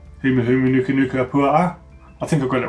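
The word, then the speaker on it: humuhumunukunukuāpuaʻa: It says, with the Humu, one must pronounce both of the A's at the end. So that was a Kona, if I get this right. Humu Humu Nuka Nuka Pua A.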